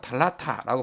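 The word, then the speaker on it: θάλαττα: 달라사라고 이제 발음을 하는데 아테네 사람들은 이걸 갖다가 이제 일종의 사투리로 달라타라고 발음을 했다는 거죠 이런 습관이 이제 시간이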